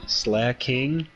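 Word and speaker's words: Slaking: name right but uh slacking slack king is how you say it it's the guy who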